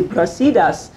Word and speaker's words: Brasidas: And so when you see brasidas, it's accented on the I, you know, but at the same time, let's go to thelos.